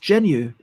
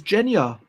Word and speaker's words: genu: for me to learn apparently it's pronounced genu or plural is Gena genu Gena genu Jor there we go